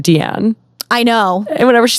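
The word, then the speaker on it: Diane: so much to me I also had no idea that she pronounced it deian I know and whenever she said Dian was like um you're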